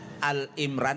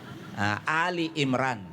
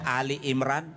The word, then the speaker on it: Ali Imran: yang saya dengar tadi, bukan Al-Imran ya, Ali Imran. Iya, jadi bukan Al-Imran. Untuk semua kalau menyebutkan kata Ali Imran, bukan Al-Imran. Beda kalau Al-Baqarah, Al-Fatihah. Kalau ini satu-satunya nama surah yang namanya Ali. Jadi kalau ada MC dari MC MTQ mengucapkan mengucapkan Al-Imran itu salah total.